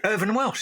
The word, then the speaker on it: Irvine Welsh: Irvine Welsh, how do you say his name? Irvin Welsh.